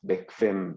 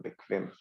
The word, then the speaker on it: bequem: Okay, so you say it as bequem, bequem. Okay. Yeah, Q whenever it's followed by a U, which is 100% of the time, is usually pronounced as like a KV, bequem.